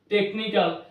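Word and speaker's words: technical: ঘরে সিএইচ যখন থাকবে, সেক্ষেত্রে আমরা এই সিএইচটাকে কয়ের মতো উচ্চারণ করব। সো যার জন্য এখানে আমরা টেকনোলজি বলবো, টেকনিক্যাল।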